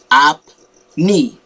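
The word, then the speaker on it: আপনি: spell it but now this is pronounced it's like two syllables two sounds up knee so i put this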